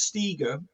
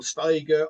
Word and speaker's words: Steger: It's Steger, and they call Steiger, Iger, Seeger, even as in Bob. Steger, yeah. I think that was Steger as in eager Steger.